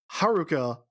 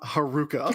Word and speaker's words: Haruka: in the show I pronounced Haruka correctly that is because I was given a Christmas present by a patreon backer whose name is Haruka not Haruka which is a little